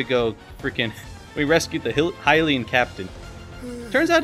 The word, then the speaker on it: Hylian: We rescued the Hylian captain. Turns out it's actually pronounced Hylian, not Hylian.